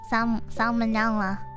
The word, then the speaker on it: Salmonella: Okay, it's with the L. Salmonella. Salmonella. Which rhymes with Nutella!